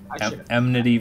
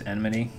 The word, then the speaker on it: enmity: is admit II because for the longest time I pronounced it empathy where the M comes first okay I think that some fighters emnity versus enmity yeah I don't know